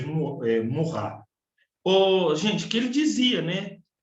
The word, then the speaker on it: Maurras: de 80 e 90, se escreve Malvas, mas lê em francês Maurras.